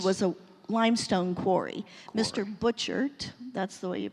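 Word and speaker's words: Butchart: Butcher, that's the way you pronounce it.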